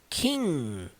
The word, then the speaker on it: king: Todas, literalmente todas as palavras que terminam com ing, todas sem exceção, você não pronuncia de forma alguma a letra G. Percebam como que essa palavra é representada no alfabeto fonético, na transcrição fonética. Kin, termina com o som do N.